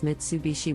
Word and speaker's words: Mitsubishi: the correct pronunciation is Mitsubishi with the emphasis on the third syllable the common mispronunciation is